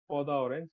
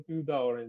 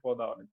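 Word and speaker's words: peau d'orange: এই জায়গাটা দেখেন আর এই জায়গাটা দেখেন, এটার উচ্চারণ কিন্তু পদা অরেঞ্জ, কিন্তু মানে প্রোনাউন্সিয়েশন পিউদা অরেঞ্জ না। আচ্ছা, ঠিক আছে, এখন ক্লিনিকের স্পেলিং হয়তো ওইরকম, কিন্তু প্রোনাউন্সিয়েশন হচ্ছে পদা অরেঞ্জ।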